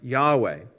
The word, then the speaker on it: Yahweh: the original Hebrew God's name which is commonly pronounced Yahweh the first evidence we have on the planet